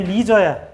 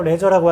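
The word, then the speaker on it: leisure: 영어로 발음이 리저야. 우리나누라 말로 레저라고 하죠.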